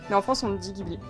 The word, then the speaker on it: Ghibli: If you go to Japan and say 'Ghibli', Japanese people have no idea what you are talking about. You have to pronounce is 'Jeebly'. But it France, we say Ghibli.